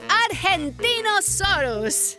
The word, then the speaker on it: Argentinosaurus: the Argentinosaurus. Whoa! That is a big name for a big dino. I have to break it up to say it right.